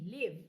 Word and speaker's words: live: l i v e when I say live you can't hear the e if you really write as I pronounce you will only write Li IV I don't say Liv live is silent so and what is